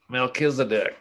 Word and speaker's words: Melchizedek: the same verb that moses employed above concerning melchizedek yeah okay pronounce that for me again we'll accuse a dick you know melchizedek yeah in the story of abraham namely that